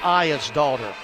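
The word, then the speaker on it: Aegis Dotti: Elizabeth I is daughter. I phonetically wrote I E is I daughter. Just like your daughter.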